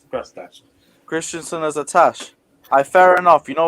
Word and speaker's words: Christensen: Say his name correctly. Christensen, God's sakes.